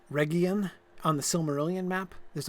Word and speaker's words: Region: Like, so there's an area just called region, right? No, it's called Region. Actually, it's a hard G. But it's an easy mistake to make.